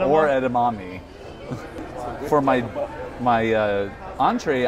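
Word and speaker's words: edamame: what's a web edma edma Ed edamami oh yeah edma no edamami is what it says hi basil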